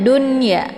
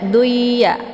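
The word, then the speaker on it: دنيا: adalah jelas ya izhar Jadi dibacanya Dunya enggak boleh dibaca duya ya tapi Dun atau biasa juga disebut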